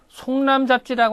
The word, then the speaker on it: 송남잡지: 또 송남잡지라고 하는 책이 있어요. 어떤 사람이 이걸 시기로 읽는데 시기 아니고요. 이게 잡지할 때 이렇게 지라고 읽어야 돼요.